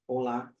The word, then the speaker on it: hola: be hola oral and remember H is silent in Spanish so it's hola um and uh saying